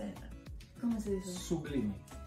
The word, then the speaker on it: Sublime: Sublime. Sublime.